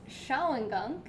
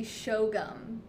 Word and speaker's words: Shawangunk: Now, I was pronouncing this Shawangunk, because that's what it looks like to me, Shawangunk Mountains, but I looked it up online and it seems to be Shogum. Shogum is how they pronounce it, the Shawangunk Mountains.